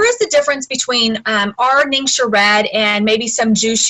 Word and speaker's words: Ningxia: these products okay our name should wesberry is pronounced lingsha guy so not ninja even though you're you can say it that